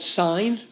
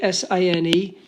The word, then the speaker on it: sine: So the first one is called sine. Okay, S-I-N-E. It's pronounced sine. It's not pronounced sin.